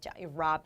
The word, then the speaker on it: Rob: 그러니까 /rə/ 까지 발음 하지 말고 , 발음 할 때 첫 소리 만 내세요 . 그 점 을 드러내는 게 더 낫습니다 . 준비 가 되었다는 느낌 으로 . 롭 , 이렇게 읽어야 해 .